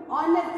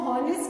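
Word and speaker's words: honest: ऑनेस्ट more मोस्ट ऑनेस्ट and children remember ऑनेस्ट इसको हॉनेस्ट नहीं बोलते हैं ऑनेस्ट में एच साइलेंट होता है you need to keep this in mind.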